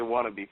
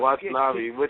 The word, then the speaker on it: Watanabe: of Caprice Coleman and how do you say this guy's last name? Watanabe. Watanabe. Oh, okay. I don't know why. Every time I always see his name, I always want to say Wannabe for some reason.